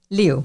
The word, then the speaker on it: Liu: so that is how you say his name Liu it's a lot easier than than he makes